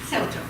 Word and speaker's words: Ceuta: How do you pronounce it? Ceuta.